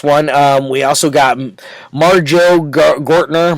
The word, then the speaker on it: Marjoe: um we also got marjo gortner marjo it's spelled really weird different for me m-a-r-j-o-e-marjo he is the uh